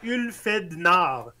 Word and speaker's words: Ulfhednar: Si tu regardes le nom là, ça se dit c'est Ulfed Nard.